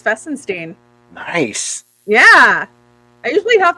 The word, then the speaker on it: Fesinstine: You actually are one of the rare ones that got it right. It is Fessenstein.